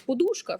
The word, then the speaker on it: подушка: вчимо наприклад до нмт наголос подушка хоча ну найпоширеніший він подушка і подушка вона вже утворилася за часів коли вплив російської мови на нас стиснув правильно так і ми маємо зараз донмт вивчати наголос на у Хоча він більш природний на о і я розумію це